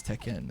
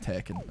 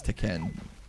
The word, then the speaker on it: Tekken: Okay, it's Tekken, it's not Tekken, okay? Even though it sounds way better to say Tekken, but it's Tekken.